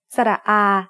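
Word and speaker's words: สระอา: short in this case sara ah is a long vowel that makes the sound ah like the a in father a is very easy to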